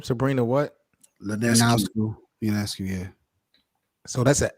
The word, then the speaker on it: Ionescu: pronounce this girl's last name? Sabrina what? Linescu. Ionescu, yeah.